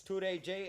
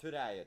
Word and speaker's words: Turaiji: It's Turaiji and not Turaya.